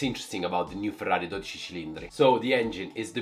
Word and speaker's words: 12Cilindri: So I mispronounced the name of any car, and this is the first car I can help you with the pronunciation. It's Ferrari 12Cilindri.